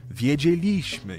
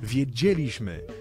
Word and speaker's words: wiedzieliśmy: takich jak poszliśmy zobaczyliśmy wiedzieliśmy i tak dalej Słuchajcie za każdym razem kiedy odmieniamy czasownik w liczbie mnogiej w czasie przeszłym następuje przesunięcie tego akcentu z drugiej sylabie od końca trzecią sylabę od końca to jest zmiana z